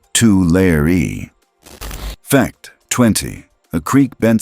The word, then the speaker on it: Tulare: By the way, it's pronounced two layer.